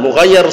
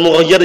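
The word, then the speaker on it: مُغَيَّر: I'rabnya duribat hindun, perhatikan duriba fi'lun madin mughayyar shighah, bukan mughayyir ya. Sebagian orang bacanya mughayyir itu keliru, mughayyar yang diubah artinya.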